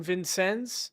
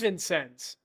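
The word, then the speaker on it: Vincennes: I don't think that's how you pronounce it. I know that's not how you pronounce it. It is Vincens. Oh, okay. Even though it's French. Vincens. Well, French origins commonly use.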